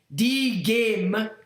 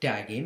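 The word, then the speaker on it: dígame: In Spanish, die game, pronounced D-game. Oh. D-game. Oh, it's not die game, it's D-game.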